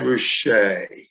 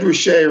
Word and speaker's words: Ruscha: His name is Ed Ruscha, and we'll get to why it's pronounced that way in just a moment. Ed Ruscha remains one of the most influential Los Angeles